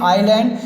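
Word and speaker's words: isle: Example के रूप में आप यहाँ देख सकते हैं आइलैंड, आइलेट, आइल। यहाँ पर आपको देख लीजिए एस का कोई भी उच्चारण नहीं हो रहा है तो यहाँ पर आपका क्या हो गया? एस साइलेंस हो गया।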